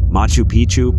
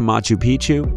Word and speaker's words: Machu Picchu: Machu Picchu Peru when a place rhymes with picture you can almost bet